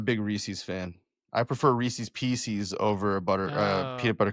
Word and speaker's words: Reese's Pieces: It is Reese's Pieces, first of all, because it rhymes and you know it rhymes and you did it anyways.